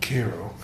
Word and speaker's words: Cairo: you know Illinois called Cairo Illinois which is Illinois Creole for a place that would be spelled like it was Cairo but in southern Illinois is called Cairo and so Ted had